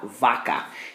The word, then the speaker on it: vaca: word for a cow Vaca that c is still a hard sound okay because it comes before an A and it doesn't really